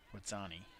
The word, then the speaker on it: Witsani: Jason told me how to say it. Witsani.